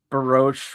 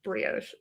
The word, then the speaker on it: brioche: I'm pretty sure it's brioche, but brioche.